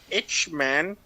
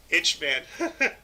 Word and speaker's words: Eichmann: He probably, it's probably pronounced Eichmann or it's something Eichmann. like that. It's Eichmann.